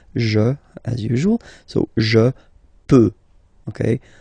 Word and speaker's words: peux: So the first form that we'll have is je, as usual, so je peux, okay? Final x not pronounced here, okay? So you've got x, but you don't pronounce it, so basically you get the sound peut, je peux, okay?